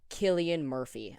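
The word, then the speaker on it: Cillian: slaughtered if I don't say it right uh pronunciation yeah Killian Murphy okay can you hear it if I do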